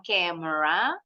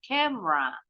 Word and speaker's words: camera: oke friend Yes betulera huruf enya di tengah hilang nih buinya jadi bacanya bukan camera tapi camera I my camera From